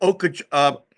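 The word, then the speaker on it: Okoboji: Okaboji.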